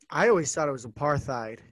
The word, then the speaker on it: apartheid: tend to go with apartheid so it's a part and then yeah the rest of the world because that's that it's an afrikaans word that's why it's um